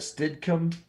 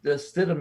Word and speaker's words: Stidham: Jarrett Stidham.